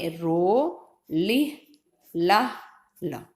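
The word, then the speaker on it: Rolihlahla: तो पहले क्या है, रो, रो. फिर क्या है, लिह, LIH, 2 टुकड़े बना दिए, 2 सिलेबल बना दिए, लिह. फिर क्या है, ला, LAH, ला. हमें याद करने के लिए ऐसे ही बोलना है. तो हमने रो, लिह, ला, ला, ऐसे इसके सिलेबल बनाने अपने दिमाग में,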